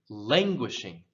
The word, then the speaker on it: languishing: word here languishing languishing now this word this emphasis goes on the first syllable lange and often when we emphasize the syllable in english we will elongate it and raise the tone not always but many times we do so languish language languishing